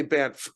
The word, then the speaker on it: Banff: Yeah, I'm flying into Calgary because I've got a thing coming up in Banff, and I say Banff because there's two F's, and I Well, choose to pronounce both of them.